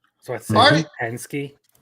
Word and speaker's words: Hensuki: stuff like sasuke where they don't actually pronounce it sue. It's just an s sound and the the uh the second part of that just is kind of muffled or omitted.